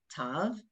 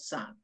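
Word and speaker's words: ת: It's called the letter Tav, and the one with the dot used to be called Sav. In Sephardic Hebrew, we pronounce them both as a T. Okay, whether it has a dot or no dot, it still has a T sound.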